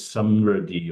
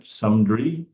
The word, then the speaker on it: samriddhi: The word prosperity, I think it's samriddhi or something in Hindi, right? Samdri. How do you pronounce it?